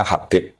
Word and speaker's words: Habib: Itu di harakatnya kitab itu ada yang nulis khubab. Tapi yang benar Oh, nggih. Yang benar itu bacanya Habib.